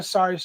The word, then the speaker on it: sari: permit to open a sari store? Sometimes it's sorry. That's what I thought it was at the first time I heard it, because it's pronounced the same way, right? It's SARI.